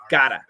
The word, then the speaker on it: gotta: of a flap T your tongue touches once to give us that almost a D sound so that's how you